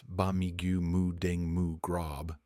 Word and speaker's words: Ba Mee Moo Daeng Moo Grob: charu and crispy pork Thai speakers pronounce bigu muing mu grob this dish is a